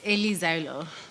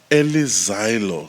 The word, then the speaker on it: Eli Zaelo: All right, Eli ZAELO. Is that how we pronounce it? Yes, Eli ZAELO. Eli ZAELO.